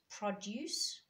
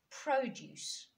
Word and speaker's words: produce: Now, this is all the difference when you've got words such as produce and produce. The way in which you say it, the way in which you stress the syllables gives you 2 completely different words.